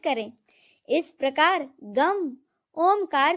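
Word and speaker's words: गं: गण के प्रथम शब्दांश ग का उच्चारण करने के बाद वर्णों के आदि अर्थात अ उच्चारण करें। उसके बाद अनुस्वार अर्थात म का उच्चारण करें। इसके बाद इसे अर्ध चंद्र से सुशोभित करें।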